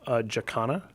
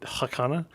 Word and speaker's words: Jacana: and I pronounced it Jacana, and it was like, no, it turns out that wasn't Spanish, it's Portuguese, and it's a bird. Oh, so you're supposed to say the J?